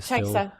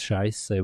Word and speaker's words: Scheiße: Tyson, and I think I even say it wrong. Yes, you Chaisa. still do. But it's also not a very nice word for all the German-speaking people who listen. It's Scheiße, but it's not really a nice word.